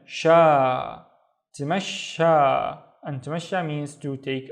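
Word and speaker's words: تمشى: So the first syllable is T, and then mash, and then sha. Tamasha.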